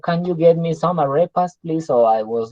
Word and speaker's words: arepa: In his pronunciation, it was arepas. Okay, and I told him, no, it is not arepa. It is arepa. And so he learned to say arepa.